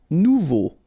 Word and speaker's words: nouveau: Nouveau. Remember, combination of E, A, and U together, it's O. So you get nouveau.